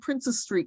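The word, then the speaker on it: Princes Street: This is called Princess Street Garden. And you'll notice there's no apostrophe in princes, and that's because it was named for two princes.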